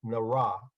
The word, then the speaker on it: NRAAA: I'm writing tonight both as an invested parent and a member of the NRAAA, pronounced NARA, the community group that is formed in response to interest and need to expand racial awareness, accountability, and action in Novi.